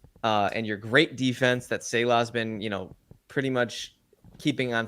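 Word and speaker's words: Saleh: stallion Breece Hall, and your great defense that Salah's been, pretty much keeping on top of the NFL. I believe it's pronounced Salah.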